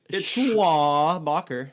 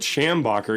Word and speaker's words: Schwabacher: It's Schwabacher. It's the Charles way it's spelled. Schwabacher, as in Charles Schwab. Les Schwab. Les- There you go. I always want to call it Schambacher, even though you're one